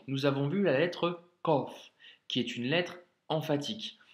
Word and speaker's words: ق: Qaf, Kef. Qaf, Kef. Pour l'astuce, tu peux te rappeler l'astuce de Mehdi, le fameux bruit du corbeau. Le corbeau fait ko, ko, ko, tu vois.